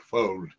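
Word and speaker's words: Fuld: is that many ceos including i think dick fold that's the right pronunciation uh of lehman brothers are so confident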